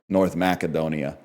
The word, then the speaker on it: North Macedonia: Yeah, but I can't talk about it because it makes me defend Wayne Gretzky, because it's actually, apparently, it's supposed to be pronounced North Macedonia.